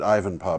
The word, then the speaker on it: Ivanpah: This is the I pronounce it Ivanpah, but Ivanpah. I don't know that you're not right. I don't know either. Yeah. Just in case people want to know, you know, we pronounce it two ways so that everybody is accommodated.